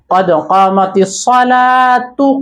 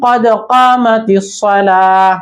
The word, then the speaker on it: قد قامت الصلاة: তো এখানে তাটাকে অনেকে এইভাবে উচ্চারণ করে কদ কামাতিস সালাতু কদ কামাতিস সালাহ, দুই একজন আছে এরকম উচ্চারণ করে।